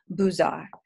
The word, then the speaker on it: Beaux-Arts: Now, if you were French, you would pronounce that Beaux-Arts, but we are not French. So I will say the Beaux-Arts.